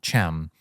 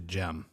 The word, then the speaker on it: Cem: character is Turkish yes so that's how you pronounce it in Turkish yeah gem so um